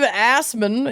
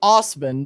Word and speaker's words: Assman: Dave Assman is sticking it to the man by sticking it to the back of his truck. When Assman, actually pronounced Osman, but spelled Assman.